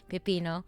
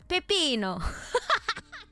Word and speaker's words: pepino: how do you say how do you say Pipino in Spanish and he's like Pipino and I'm like why are you saying it like an Italian person Pepino like what the